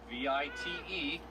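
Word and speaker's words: wyd: And the Afrikaans word for wide, V-I-T-E, pronounced vite, it's been mistranslated all these years, so we should call him the wide rhino.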